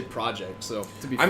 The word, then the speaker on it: CD Projekt: It's also CD Projekt, but you say project.